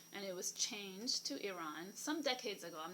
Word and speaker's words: Iran: the ancient country which is the modern-day Iran I ra n which is pronounced Iran not Iran and just like you would pronounce Italy the